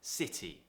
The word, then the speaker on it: city: you have two vowels now the important thing here is that you don't pronounce it as a d which is what americans do they would say city